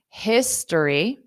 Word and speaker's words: history: he's he's he's studying history history so notice that o in history is just a very r histor history history history so it's a very very quick sound history so notice the